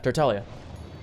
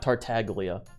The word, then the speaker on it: Tartaglia: like encourage them or something for Italia yeah tertalia that's how you pronounce it it's more like it's more like is an Italian name not tartaglia you know child I don't understand why I